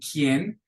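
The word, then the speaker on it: quien: U is the exception the U is silent after a q think of the word K and kien we don't say que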